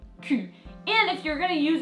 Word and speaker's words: cul: And you might have noticed that the L is not pronounced, le cul.